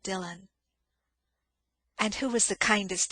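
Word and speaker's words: Dillwyn: It is spelled D I L L W Y N. Dillwin, but it is called Dylan.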